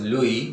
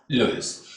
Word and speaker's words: Louis: Though it is, there is S in the name, but it is pronounced as Louis, not Louis.